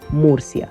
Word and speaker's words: Murcia: our way to meria and actually the correct pronunciation is Moria the reason why I'm saying Mercy as you